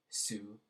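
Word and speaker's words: syv: If you watched the last video, I said be careful when you're pronouncing sick because it sounds also like the number 7, su, S-U-S-Y-V, as opposed to S-Y-G for sick.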